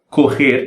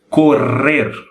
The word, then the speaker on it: correr: Quando nós temos 2 R's, a língua tem que golpear várias vezes o céu da boca. Então, o som é mais ou menos correr.